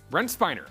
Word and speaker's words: Brent Spiner: If you're celebrating a birthday today, you share it with Brent Spiner. Brent Spiner. Okay, thank you for the correction on the pronunciation.